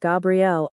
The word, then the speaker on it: Gabrielle: feminine name is pronounced Gabrielle the difference is in the gay and GA sounds hope the difference is